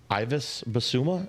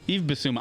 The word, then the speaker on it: Yves Bissouma: Ivis Basuma, is that his name? Yves Bissouma.